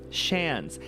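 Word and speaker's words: seans: The pronunciation of Sean's is the same as Sean's, like chance, but with a sh at the end. Oh, it's Chance. Shance. Hell yeah, Diva. Shans.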